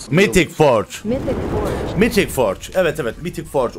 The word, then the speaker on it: Mythic Forge: mythic Forge Evet evet mythic Forge olarak okunuyormuş yeniz yenilendi bildiğin üzere